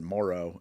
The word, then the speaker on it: Moreau: left there and and Maro doesn't like and actually they pronounce it morrow in this movie which I think is funny uh doesn't like having